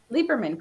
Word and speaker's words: Lieberman: Lieberman, correct. Yeah. Lieberman, okay. So the E is silent.